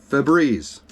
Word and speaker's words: Febreze: That air freshener, Febreze. Today, it's spelled F-E-B-R-E-Z-E. If you go look at Febreze, it's F-E-B-R-E-Z-E. Well, no, I remember Febreze, like breeze, like a blowing breeze.